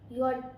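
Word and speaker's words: Jot: नहीं, ये हमारा होता है जे, जे को हम बोलते हैं यॉट। अब जर्मन में जो जे की प्रोनाउंसिएशन होती है वो य होती है, ज नहीं होती, उसकी प्रोनाउंसिएशन य होती है, तो ये ध्यान रखना।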